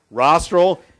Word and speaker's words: rostral: person or animal so rostral is towards the nose of the person rostral rhymes with nostril so as far as